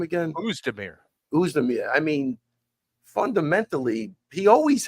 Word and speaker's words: Oezdemir: But, and you could see what, how do you pronounce his last name again? Oezdemir.